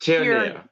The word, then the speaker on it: Tierney: It's Jean it's pronounced Tierney.